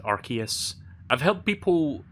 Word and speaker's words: Arceus: trailer like last week and apparently the correct pronunciation is arceus like it's a hard see it's not a